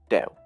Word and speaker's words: Tao: Either way, with a T or with a D, it's pronounced Tao.